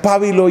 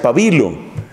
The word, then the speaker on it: pabilo: expresamente El Profeta Isaías en unos países se pronuncia pábilo y en otros países como el mío se pronuncia pabilo aquí no sé en México Cómo se pronuncia refiriéndose a ese mechón pavilo no Entonces haí los dos modos de pronunciación Bueno pues dice no